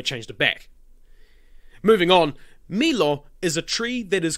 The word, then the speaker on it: milo: We also see this with milo, pronounced mi-lo.